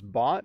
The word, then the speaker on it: bot: Mode says, do you pronounce bot and bought the same way in Canadian English? Yes.